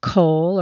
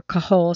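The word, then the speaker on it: kohl: which is in English called Cole or coah sometimes it's spelled k h o l and it's applied inside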